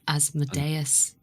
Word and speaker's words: Asmodeus: Like Asmodeus. Aye. Thank you for pronouncing it correctly.